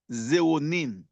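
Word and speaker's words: xeronine: See when you take this ni full of irido phytonutrients the active ingredient called the zeronine. Allow me to spell it. X e r o n i n e. Zonin.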